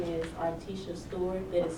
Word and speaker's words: Artesha: Uh, my name is Articia Stewart. That is spelled A R T E S H A Stewart.